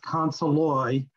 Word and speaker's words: Consoli: Well, it's pronounced Consoli. Consoli. Yeah, it's more French.